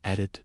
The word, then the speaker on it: Edite: Your name will be Edith, she announced.